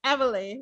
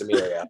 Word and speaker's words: Emilia: I all this time I thought it was Emily until I saw a video of her saying, "Hi, I'm Amelia," and I was like, "Oh, that's how you say it." The first day she was like, "It's not Emily, it's Amelia."